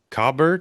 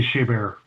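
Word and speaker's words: Chabert: Um but her co-star from Mean Girls, um Lacy uh Cobbert, is that how you say her name? Lacy Sha Bear. Sorry, Sha Bear.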